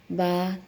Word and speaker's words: با: لہجے میں ادا کریں، اردو تلفظ سے پرہیز کریں، یعنی بے، تے، سے، ہے، خے، توئے، زوئے وغیرہ یہ ہرگز نہ پڑھیں کیونکہ یہ اردو لہجہ ہے۔ عربی لہجہ با، تا، ثا، ہا، خا، تو، زو